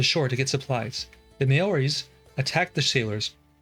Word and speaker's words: Maori: It looks like they're in a world of hurt there, but these people called themselves the Maoris, which is pronounced Maoris.